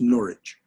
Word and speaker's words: Norwich: Oh, Julian of Norwich, Julian, Julian of Norwich, pronounced Norwich.